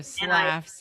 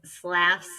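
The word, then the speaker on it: Slaughs: So slass as in slaughter. Yes. S l a u g h. Yes. And so it's slass isn't a real word, but it rhymes with lass.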